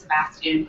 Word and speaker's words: Sebastian: in 12th night because my middle name is sebastian pronounced like the crab but not solved like